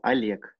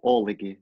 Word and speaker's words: Oleg: sua cidade meu nome primeiro nome em Russo Alec Alec em português se escreve como OLG e as pessoas falam OLG OLG mas no